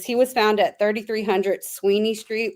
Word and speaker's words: Sweeney: The first thing is he was found at 3300 Sweeney Street, which is spelled Swiney, and they spelled it Swenney.